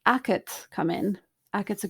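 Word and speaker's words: agad: a g a d it sounds like it's spelled a c a t but it's a g a d so both the g and the d have become unvoiced because they're not in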